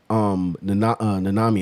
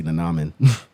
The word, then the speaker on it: Nanami: And especially like when he was fighting Nanami, I was about to say Nanamin. But that's like the cutesy way to say his name.